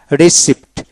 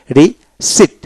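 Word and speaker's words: receipt: Fine fine, rain rain, রিসিপ্ট রিসিপ্ট রিসিপ্ট, Pierre উচ্চারণ হবে না, রিসিট রিসিট।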